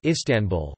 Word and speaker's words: Istanbul: Proper names are usually accented on the penultimate syllable as in istanbu, Istanbul, but sometimes on the